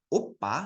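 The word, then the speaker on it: 오빠: Jadi kalau yang uppa, lihat mulut Sam. O-nya itu dia monyong ya. Uppa.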